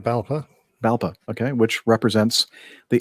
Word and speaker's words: BALPA: Is that the way you'd pronounce that, Nick? BALPA? Yeah, that's right, BALPA.